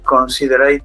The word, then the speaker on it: considered: Have you ever considered going to live another country? No, not considered. Recuerda que la E esta es muda. Considered. Pronuncia la D, la E no.